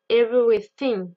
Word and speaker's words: everything: Dans le mot everything, il y a le son th. Le son th, on va souvent le retrouver dans beaucoup de mots, d'accord ? Donc attention à bien le prononcer, d'accord ?